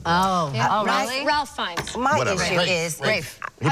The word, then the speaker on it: Ralph: we can Jackson Oh Ralph Fiennes mom is Rafe who pronounces it rape Oh josephs no sorry yes